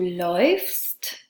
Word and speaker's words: läufst: So again, the A changes to an A umlaut. So instead of laufe, it becomes du läufst and er sie und es läuft. Our second pattern is an E to an IE.